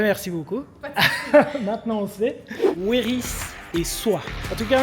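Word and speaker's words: Wéris: Donc on prononce Weris.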